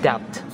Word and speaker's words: debt: like bump, bump, R, or before the letter T, like debt, debt.